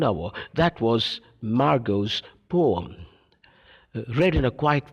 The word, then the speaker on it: Margot: And this girl, Margot, you have to pronounce this girl's name as Margot.